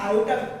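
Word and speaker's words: iota: जो आगे 11th 12th में जब आप पढ़ते हो तो ये आयोटा, इसको प्रोनाउंसिएशन आयोटा बोलते हैं, इसको ना आयोटा कहते हैं इसको।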